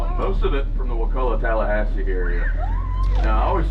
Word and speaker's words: Wakulla: So, if you're here, what how do you pronounce it? Wakulla.